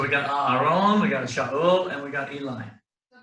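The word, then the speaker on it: שאול: Shaul. How would you spell that?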